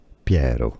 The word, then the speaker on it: Piero: do you pronounce that Italian pronunciation Pierro Pi Ro Piero so in English you